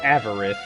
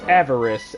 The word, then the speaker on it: Avarice: makes me realize that her name isn't avarith it's avarice and she can't say it right so that is